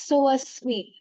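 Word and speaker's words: Soasmi: as so asmi. It's a Sanskrit origin name. It comes from soham asmi, as in I am Oh.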